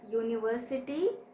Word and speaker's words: university: it starts with you as the word university has the sound in the beginning of y o u and y o u starts with y sound which is a consonant sound and hence we